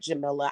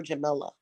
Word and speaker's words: Jamila: pronounce my name Jam I like Jamila I actually prefer Jamila okay like vanilla I prefer Jamila some